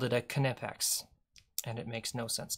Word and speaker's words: Knipex: Good old Nipex. Knipex. Can you believe that? It's pronounced Knipex.